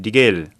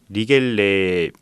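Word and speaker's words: Riegele: 그런데 이제 유일하게 리겔, 정확한 발음은 리겔레거든요. 리겔레 맥주가 그나마 아우크스부르크의 좀 자존심을 이어가는 그런 양조장이라고 할 수 있죠.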